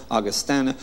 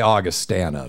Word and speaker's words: Augustana: It's so funny because now, since I was told that I was pronouncing it wrong, now I've switched over to Augustana, and I feel like such a sellout.